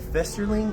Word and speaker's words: Festerling: have a very special guest uh Julie uh festerling am I saying that right that's right yeah because I've had butcher the name so um I have Julie here